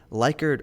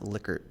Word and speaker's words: Likert: In this lecture, we're going to build out a Likert, or I've heard it pronounced Likert chart.